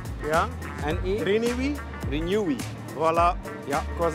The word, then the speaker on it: Renewi: Het is een drie lettergreep. Ja. Ziet ze? Renewi? Renewi. Renewi, oké. Okay, dat, al... nee, dat is al je punt. Dat is al je punt. Recycling is ja. De R-E. Ja. New.